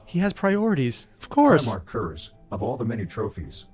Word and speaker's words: Konrad Curze: Some of you may know me as Konrad Curze.